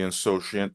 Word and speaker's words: insouciant: For example, the insouciant tourist wandered into the dense forest, unaware of the potential dangers that lay ahead. Regarding pronunciation, pay attention to the stress on the third syllable, iant.